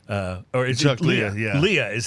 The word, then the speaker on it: Lea: week's special guest, uh singer and songwriter Chuck Lee. Uh, or is it Leah? Leah is how you say his name.